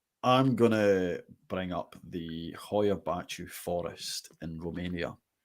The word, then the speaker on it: Hoia Baciu: You're here to talk about the Hibachi Forest. correct. Did I pronounce that right? It depends. It's Hoia Baciu is like the English translation, but the word Hoia, I'll get into that later.